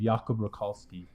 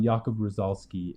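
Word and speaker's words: Jakub Różalski: of a World created by an artist named yob rolski U rosoli sorry I said his last name wrong um yakob rosoli and um it's called the 1920s world and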